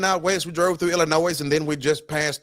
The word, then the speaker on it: Illinois: goddamn state or if you pronounce the s in Illinois right we took a you know heading heading out west we drove through Illinois and then we just